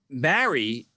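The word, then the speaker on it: mari: okay mary mary mary so it's not mary like jesus mary joseph but it's mary m-a-r we would spell it m-a-r-i and so it's it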